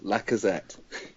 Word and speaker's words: Lacazette: Are you going to commit to a pronunciation yourself? It is Lacazette.